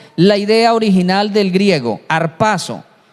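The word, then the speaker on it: ἁρπάζω: el rapto de Enoc la palabra rapto se pronuncia en griego harpazo y harpazo es algo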